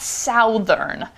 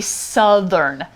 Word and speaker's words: Southern: Also, note the pronunciation. It's not Southern. A lot of people I know here say Southern. So that should be Southern, like cut, that vowel.